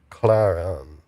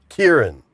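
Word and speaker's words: Ciarán: Probably, you know, and we have here Paul and Claron. Claron. Kieran.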